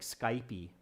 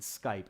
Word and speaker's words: Skype: sometimes pronounce them differently like Skype II is one pronunciation I often hear but in the US or Canada you'll hear the word Skype not Skype II okay so practice pronouncing